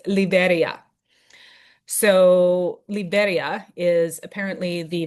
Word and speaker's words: Liberia: All us North Americans say Liberia, and my lovely host was like, "It's not Liberia." She's like, "That's not how you say it. It's Liberia."